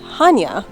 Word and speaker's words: Chania: place that's spelled just like this, but it's pronounced Hanya.